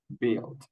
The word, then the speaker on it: build: Build, build, build. You know the meaning of this verb. It's building something. Wing a apartment. Wing a Okay. But you don't pronounce the U.